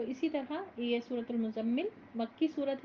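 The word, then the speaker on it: مزمل: ये क्या है कि इसका प्रोनंसिएशन मुजम्मिल कहेंगे हम ठीक है जा का शदा भी अच्छे से प्रोनाउंस करेंगे सूरतुल मुजम्मिल मक्की सूरत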